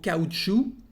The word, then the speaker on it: caoutchouc: And also caoutchouc, caoutchouc to say rubber. Le caoutchouc. You can't hear the C.